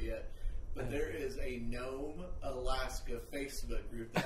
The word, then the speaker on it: Nome: you hey what what what city do I know in this world only rhymes with home so I was thinking gnome Alaska you know so